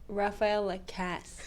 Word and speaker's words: Raphaëlle Lacasse: people your full name because I guess completely butchered her last name hi everyone and my name is rapael Cass not La I'm so sorry so many versions